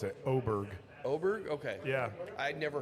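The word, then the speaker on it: Åberg: Aberg and Rose both have actually gotten a birdie already. You have to ignore that A and look at the tiny little O on top of it What because that's pronounce it.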